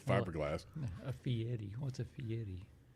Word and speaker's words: Fieri: Did I say it right? Fieri. Fieri. There you go. Yeah, most people say Guy Fieri, and I'm like, no. Sounds like a Fiero.